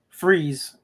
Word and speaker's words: Fries: It's like I tell you the the place out here is called uh Freeze, but it's spelled Fries, but you pronounce it freeze.